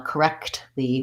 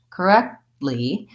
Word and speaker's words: correctly: If I say, I just said that now correctly with the pronounced T, and that's typically more the British style. So Americans will often say correctly, where they don't release that T sound. And so you may not hear the T sound because I'm not